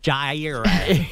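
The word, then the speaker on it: Jaire: Uh the Baltimore Ravens signed former Packers corner Jier Alexander. That's pronounced Gier.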